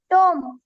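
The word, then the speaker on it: tomb: थंब अंगठा एम बी टोम टी ओ एम बी टोम थगडे थडगे डब्ल्यू ओ एम बी गर्भाशय या सर्व शब्दांमध्ये बी हे लेटर सायलेंट लेटर आहे गुड नेक्स्ट सर्वांनी आता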